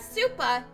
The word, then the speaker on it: supa: Aka is the Japanese term for red, whereas supa is the way you pronounce super in Japanese.